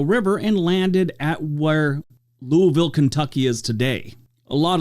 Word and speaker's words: Louisville: It's like some people, when they say it wrong, it's like Louisville, or say Louisville or Louisville or Louisville. But it's like the people that live there, they're like Louisville. That's how you say it.